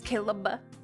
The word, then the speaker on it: Caleb: He performed with Caleb. I'm used to the three syllables and Oh, it's Caleb.